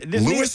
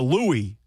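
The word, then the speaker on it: Louis: Lewis Armstrong? No, Louie. Not Lewis. It's Louie.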